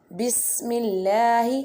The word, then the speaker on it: بسم الله: Say Bismillahi wa ala barakatillah. Bismillahi, seen like a whistle sound, and wa ala ain pronounced from the middle part of throat.